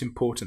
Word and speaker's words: important: Now we need to be very careful with this word because some people will put the stress on the im which is wrong.